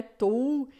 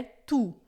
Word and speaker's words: tu: tou, não é to, não é tou, é tu, tá? Por quê? Porque o u em francês vai ter sempre o som de u normal e depois o t final a gente não vai pronunciar tu sarmon, tá?